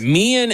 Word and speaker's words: Meehan: pronounced? Meehan? Meehan. Okay, I just want to make sure it wasn't like mine or something. Los Angeles. All right, Meehan in Los Angeles wants to talk about the 2-point conversion.